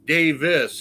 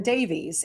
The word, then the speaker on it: Davies: Yay, Now, you pronounce his name Davis. Does he go by Davis or Davies? Yes, I was corrected because I called him Davies, and he says no.